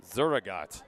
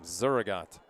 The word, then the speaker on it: Zurugot: Zurugot is how you pronounce that last name. Zurugot.